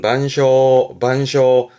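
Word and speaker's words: 晩鐘: 발음은 반쇼.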